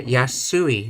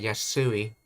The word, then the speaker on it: 安い: Yeah, yasui, not yasai, yasui.